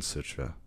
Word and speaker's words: sutra: the subjects for contemplation sutra or suta or sutra depending on whether you're speaking paulie or sanskrit and there's a recitation